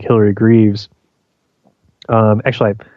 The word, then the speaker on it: Greaves: well as uh some other researchers like Hillary Greaves um actually it's funny I've known Hillary for a long time but I recently discovered that her name is actually pronounced Graves I don't know why I didn't no when